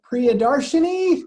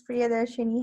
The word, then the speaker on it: Priyadarshini: so let's see um priyadarshani did i pronounce that correct close yes it's priyadarshini hi everyone um so